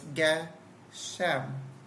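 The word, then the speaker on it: גשם: So the Gimel, and then you say the Ge, and then you see the Shin, and so it's sh, below it, and then the Mem sound at the end, so it's Geshem.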